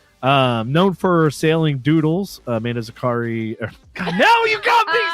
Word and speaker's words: Zakri: Amanda Zakri, pronounced the correct way, is a trailblazer in digital content creation and a spirited adventurer.